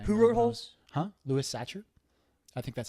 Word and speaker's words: Sachar: wrote holes huh Louis Sachar I think that's how it's pronounced but it's Louis the normal way and then si si har Louie